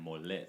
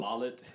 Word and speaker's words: Mollit: Oh, I have to say it like that, mollit. Yes, not mollet.